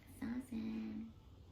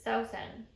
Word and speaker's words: Sawsan: Sawsan. Fun fact, that's actually not how you say my name. Really? So my name is Middle Eastern, and the correct pronunciation is Sawsan.